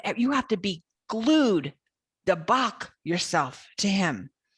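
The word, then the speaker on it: דבק: If you hold tight, the original is dabek, D-A-B-E-Q phonetically, but the root is dabak, is a way of clinging, just a deep clinging, so like you're being glued to something.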